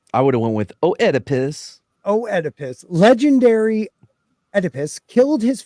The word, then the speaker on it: Oedipus: Thebes is most famous for being home to Oedipus. I said it right. Nice. I didn't think I was going to. Ooh. Just ignore the O.